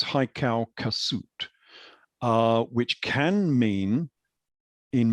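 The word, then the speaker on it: Hyksos: now modern interpretations because the original name was haikal kasut it was not hike sauce it was haikau kasut uh which can mean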